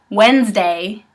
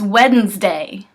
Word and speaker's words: Wednesday: example tomorrow is Wednesday so many people just say Wednesday but there's a d in there it's Wednesday I guess it's hard to hear the difference but there is a difference Wednesday versus Wednesday it takes like an extra like mm to kind of get it out and same thing with